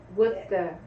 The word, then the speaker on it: Worcester: Worcester. So it Yeah. looks like Worcester. Yeah, but it is not pronounced Worcester.